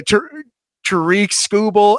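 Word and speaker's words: Tarik Skubal: Tariq Scooble. Absolutely. Trick, I believe you're right on the pronunciation there.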